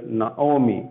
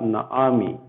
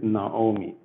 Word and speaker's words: Naomi: So here, even though we have the word, we have vowel patak, we pronounce it as O. That is why we say it as Naomi. This is not Naami. Okay, this is Naomi.